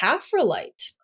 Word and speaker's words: coprolite: He does have a section here that says, it's pronounced Coprolite.